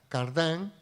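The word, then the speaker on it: Cardijn: luego fue cardenal, Joseph Cardin, algunos la pronuncian a la francesa Cardin, que lleva ese método y le dice, el Papa dice, ese es el método de la doctrina social.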